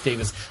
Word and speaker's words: Davies: another pronunciation uh note the surname Davies in the UK is generally pronounced the same as Davis here in the state so Russell T Davis pronounces his name Davis we've been I noticed